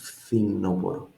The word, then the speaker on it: φθινόπωρο: Το φθινόπωρο, this thing here, φθι, F and TH, I can think in my mind, FTH, φθινόπωρο, the fall. Χειμώνας, άνοιξη, καλοκαίρι, φθινόπωρο.